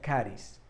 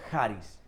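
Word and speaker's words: χάρις: Se escribe charis, pero se pronuncia charis. También hay otras versiones depende en qué, como otro dialecto, no depende en qué lugar, pero en otros lados el mismo charis lo dicen como con J, charis, ¿no?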